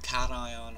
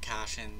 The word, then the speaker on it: cation: so what is a A cation or a cashion it really doesn't matter how you pronounce it I've heard it both ways and this is simply